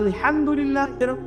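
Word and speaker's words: الحمد لله: আপনি বলছেন for example যে আলহামদুলিল্লাহ রাব্বিল আলামিন অর্থ সুন্দর। সমস্ত প্রশংসা আল্লাহর জন্য যিনি বিশ্বজাহানের প্রতিপালক হা এর উচ্চারণ ভুল করেছেন বলেছেন আলহামদুলিল্লাহি রাব্বিল আলামিন অর্থ বিকৃত হয়ে গেছে অর্থ হয়েছে সমস্ত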